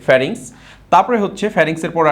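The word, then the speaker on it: pharynx: অংশটা এটা হচ্ছে গলাবিল গলাবিলের ইংরেজি হচ্ছে ফ্যারিংস পি এইচ এ আর ওয়াই এন এক্স এই বানানটা কিন্তু একটু কঠিন অবশ্যই তোমরা একটু মনোযোগ দিয়ে দেখবে ফারিংস তারপরে হচ্ছে ফারিংস এর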